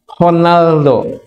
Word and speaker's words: Ronaldo: apa apa Portugal Portugal dalam bahasa Portugal Ronaldo itu R dibaca H honaldo kalau kita ma Ronaldo Ronaldo Ronaldo bukan Ronaldo orang son banya bukan Ronaldo honaldoal gu Ya udahlah ini